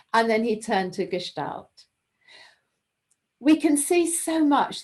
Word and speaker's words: Gestalt: Well, it's definitely Gestalt. It's a German word, and so it's quite nice if you can pronounce it the right way.